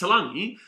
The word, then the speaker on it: Taulagi: Talangi's name is no N. So it's Taulagi, but it's just how it's pronounced. It's pronounced Taulagi, but there's no N there.